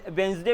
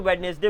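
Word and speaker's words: Wednesday: पहला हो गया Monday, then ट्यूसडे, then वेंसडे बोलो तो वेडनेसडे बोलो तो वेंसडे, देन थर्सडे बोलो तो थर्सडे बोलो तो थर्सडे, फ्राइडे, सैटरडे, संडे।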